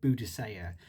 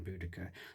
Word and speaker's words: Boudica: between describing her as Boudica or Boudicea. But different people do pronounce it differently. The Welsh call her Budug. Boudicea is what she's known as in Latin chronicles, and we've now settled on Boudica.